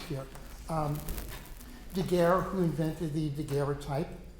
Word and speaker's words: daguerreotype: Okay, so when you look at, kind of the Three Stooges here, Daguerre, who invented the Daguerreotype, which I am told was originally pronounced Daguerreotype, but no one does that.